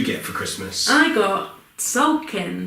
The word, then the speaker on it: Tzolk'in: I got Tzolk'in. Tzolk'in, the Mayan calendar. That is spelled T.